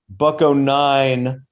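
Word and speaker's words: Buck-O-Nine: Buck-09 rhymes with Sublime.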